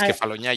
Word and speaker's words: Kefalonia: Then he talked about the Ionian Islands and Kefalonia. And Kosta, my pronunciation may be way off, so please don't be Your afraid to pronunciation is correct me. beautiful. It's spot on. Okay, It's Kefalonia.